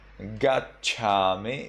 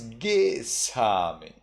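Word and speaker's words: gacchāmi: So from Gachami, it becomes Gisami.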